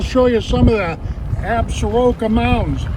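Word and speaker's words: Absaroka: Mile Creek I'll show you some of the absuroka mountains absorky is how it's pronounced AB sorky that's an Indian word that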